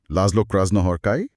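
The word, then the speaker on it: László Krasznahorkai: अच्छा एस जेड का उच्चारण स जैसा। ठीक है। लाज्लो क्रॉस हॉर्काई बिल्कुल।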